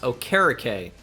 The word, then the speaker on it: Okereke: All right, so I've been told that the last name for Bobby is pronounced Okereke. So Bobby Okereke, I will sign him to play outside linebacker.